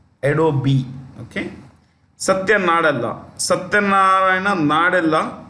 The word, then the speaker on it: Adobe: The E is pronounced Adobe.